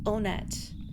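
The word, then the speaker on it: Onett: deal with it also it is pronounced onet going by the Japanese version no problem here Earthbound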